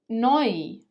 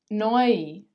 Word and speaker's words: neu: They are both pronounced as oi, oi. For example, Europa, Europa, neu, neu, träumen, träumen.